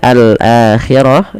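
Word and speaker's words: الآخرة: Kemudian al akhirah di sini alnya kita namai dengan alif lam qamariyah. Alif lam qamariyah. Alif lam qamariyah, yaitu alif lam yang kita tuliskan dan kita baca dengan jelas suara lam ya.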